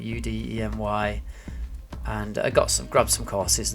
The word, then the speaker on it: Udemy: I've gone on the website Udemy, I think that's how you pronounce it, Udemy, and I grabbed some courses there when they were discounted.